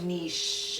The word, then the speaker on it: niche: excited states of america no say niche it rhymes with quiche quiche oh good okay